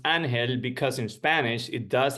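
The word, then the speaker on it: Ángel: is in Spanish and the g is silent so it sounds like an hell I always tell people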